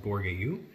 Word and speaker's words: Bourgueil: One is called Chinon, and one is called Bourgueil. The spelling on that is B-O-U-R-G-U-E-I-L. Another one of those French difficult pronunciations.